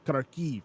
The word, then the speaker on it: Kharkiv: It's pronounced Kharkiv.